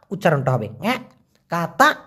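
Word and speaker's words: katak: ক আছে কাতা কাতা উচ্চারণটা হবে কাতা ব্যাঙ ব্যাঙ যেরকম ডাকে ঠিক সেরকমই উচ্চারণটা হবে কাতা কাতা তো এই কাতা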